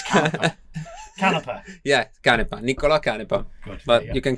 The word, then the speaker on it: Niccolò Canepa: Niccolò Canepa. Niccolò Canepa.